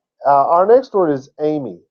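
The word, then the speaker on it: εἰμί: they do that uh our next word is Amy Amy what you wanna do I'm in rare form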